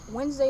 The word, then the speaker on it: Wednesday: Wednesday is a prime fucking example of that. Why is there a D? Right. Wednesday, Niggas not just wanted to be Wednesday.